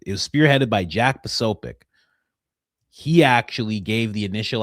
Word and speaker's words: Posobiec: Oh, I mispronounced it. It's Posobiec.